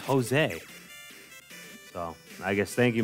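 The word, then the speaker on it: José: a kid but I didn't really understand why his name was spelled with a J because I didn't really know for Spanish J was like why didn't I call Josie you know his name's Jose oh I guess thank you mr.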